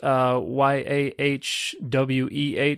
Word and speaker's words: Yahweh: Well, normally that's pronounced Yahweh. That's the scholarly pronunciation of the divine name.